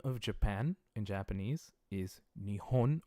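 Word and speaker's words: 日本: Japan in Japanese is Nihon or Nippon both I mean it's a pronunciation choice so it is knee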